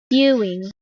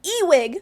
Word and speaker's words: Ewing: how to pronounce it let's just double check Ewing Ewing Ewing saroma but she is always like ewig there's an n in there why are you pronouncing it ewig she clearly doesn't care